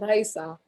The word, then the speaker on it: Raisa: first name it's pronounced it's spelted in english but pronounced in spanish so it's raisa but i go by